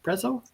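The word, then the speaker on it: Prezio: Preszo, that's how you say his name.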